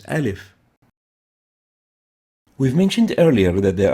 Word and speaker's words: alif: it's a vowel and it's like the a as in fast ah fast and the name given for this air as in fast is alif we've mentioned earlier that